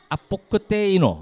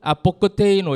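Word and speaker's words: ἀποκτείνω: 아뽀끄데. 아뽀끄데이노. 어, 맞아요. 그렇게 발음 되게 잘했어요. 그리스 어디 지방 그거죠? 사투이죠. 아포크테이노. 이거는 그리스 부산 같다. 그리스에 있는 부산.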